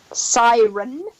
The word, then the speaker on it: Cirencester: How do you pronounce that? Cirencester? Cirencester.